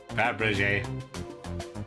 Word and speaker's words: Fabergé: You are telling me how to pronounce this one damn egg. Now answer me, Grady. Fabergé.